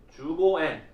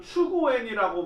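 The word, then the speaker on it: 十五円: 일본 사람들이 지나가는 사람들한테 발음하라고 합니다. 뭘 발음하라고 하냐면 15N. 15N. 그게 뭐죠? 주고N. 집사님들 계시니까. 네. 주고N을 발음하라고 해가지고 그걸 못하면 그 한국 사람들은 추고N이라고 뭐 발음을 했대요.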